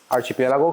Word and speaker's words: archipelago: So Galapagos is on archipelago.